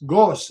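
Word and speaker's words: Groß: So Gus is Gos. That's how you say it. Ghost. Gos is German for big or large, which grande.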